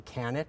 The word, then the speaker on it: Kanat: Again, my name's Kanat. It rhymes with planet.